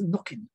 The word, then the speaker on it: Knockin: corrected because yes i i have in my ignorance uh pronounced it phonetically and so yes i also need to remember that it is knocking uh okay craig um